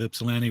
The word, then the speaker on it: Ypsilanti: thought Justice League of ipsilanti would you know most people pronounce it Ypsilanti like you like that's kind of the marker of someone who knows what they're talking about when they call it ipsilanti yeah well that's like